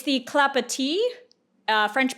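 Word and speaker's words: Clapotis: note I mispronounced this pattern's name it's the clapa uh French pronunciation apparently keep your eyes peeled for a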